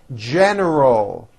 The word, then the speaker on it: general: can be frustrating general don't forget the l at the end of that word general give me a general